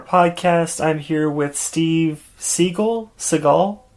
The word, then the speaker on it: Segal: I'm here with Steve Segal. Segal? You were right the first time. Right. Cool. Steve Segal, the emphasis on the first syllable.